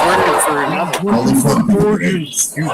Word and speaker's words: Borghese: Only for Borghese. It's pronounced Borghese.